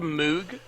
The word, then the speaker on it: Moog: Is it really called the Moog? There's a Moog synthesizer, yeah. Bob Okay, Moog. because, see, I had already pronounced it as Moog because of Andy Moog, the former Dallas Stars goalie.